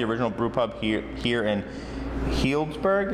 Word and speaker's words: Healdsburg: brew pub here in Healdsburg. Is that what it's called? Healdsburg, yes. Yeah. It's a tough one for people to pronounce.